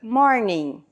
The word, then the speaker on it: morning: em inglês good morning Note que a palavra termina com i n g só que esse G ele é mudo no final então Good morning Quando é a tarde